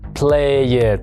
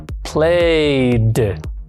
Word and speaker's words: played: Vemos que la letra final produce esta vibración y en pasado no se pronuncia play it, sino played. Al final tenemos que añadir ese sonido, algo parecido a una D.